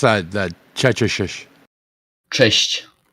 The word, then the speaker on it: Cześć: Hey, Ambo, how do you well, pronounce that? That Chechishish. Cześć. Chesh?